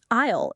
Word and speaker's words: aisle: Aisle is spelled A-I-S-L-E, but the letter S is completely silent.